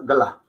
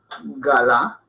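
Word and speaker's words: गला: Y galá no suena tan en hindi como la palabra gla. Gla. Entonces suena como un gl, más que un gal. Un gl. Gla. Gla. Y no es galá. Galá. No, gla. Gla.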